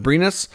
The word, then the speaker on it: Brynäs: He's expected to sign a 1-year deal in Sweden with, I think it's pronounced Brynäs.